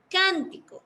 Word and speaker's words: cántico: Cántico. La sílaba más fuerte es can.